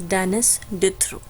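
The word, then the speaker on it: Denis Diderot: ठीक है, इनको प्रोनाउंस करने में काफ़ी लोग गलती करते हैं. इट्स डेनिस डिथ्रो. ठीक है, TH डिथ की साउंड आती है.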